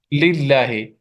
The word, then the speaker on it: لله: So in one case, we will pronounce it muraqqaqa, light. Mm-hmm. You Allahi. Yes, Allah. lillahi. If we see there is Lillahi.